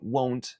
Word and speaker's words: won't: lo quiera decir esta palabra W es contracción de will not me suele confundir bastante en pronunciación con la palabra want y la principal diferencia entre estas dos palabras es que con won't tenemos un Deep tongo que es Oh won't you won have